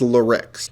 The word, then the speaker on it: Luhrix: Lerix says, I believe it's pronounced Lerix.